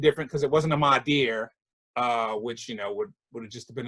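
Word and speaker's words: Madea: Did I say her name wrong? No, I thought you said Mardir because I was wondering if it was a term that I didn't know about.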